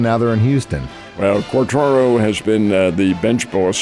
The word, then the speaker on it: Quatraro: His name is Matt Quatraro. It's a rather unusual spelling and pronunciation of the name Quatraro.